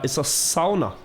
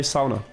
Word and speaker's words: sauna: Try looking up how the Finnish people say sauna. And you'll find they say it that way.